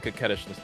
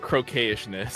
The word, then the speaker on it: coquettishness: liked how you pronounce. Good job on coquettishness, by the way.